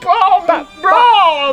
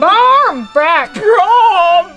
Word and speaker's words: barmbrack: I'll bake Barmbrack. But Bard's back? No, Barmbrack. It's a traditional Irish Halloween bread. Barmbrack. Barmbrack. Barmbrack. Not Brom. Barmbrack.